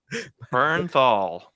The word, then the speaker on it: Bernthal: Can we just say that I don't know how to say his last name? Bernthal.